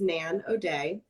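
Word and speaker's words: Nan O'Dea: a little bit um so our narrator is nan o'day um am i pronouncing that correctly you are okay um so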